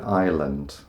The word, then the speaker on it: island: There's an S in there. Who could say what it's doing there?